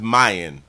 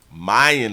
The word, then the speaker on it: Myon: a Stillwater prison in so his name is Mayan Mayan is how they pronounce it Mayan Burell who walked out of